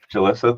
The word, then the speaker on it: Julissa: Alexa I'm sorry where do I put the syllables oh it's um Jalissa Julissa thank you hi everyone my name is Julissa